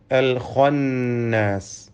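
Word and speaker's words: الخناس: അൽ ഖന്നാസ്, ഇതിലെ ഖാഇന് തഫ്ഖീം നൽകി പെരുപ്പിച്ച് സ്വരഭാരത്തോടെ ഉച്ചരിക്കണം.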